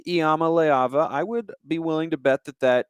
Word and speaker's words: Iamaleava: i've gotten it right after initially mistaking an eye for an l i think iyama layava i would be willing